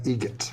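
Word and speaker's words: Eget: Adam Egget. Egget. Spelt differently. Like the bird. That's Egret.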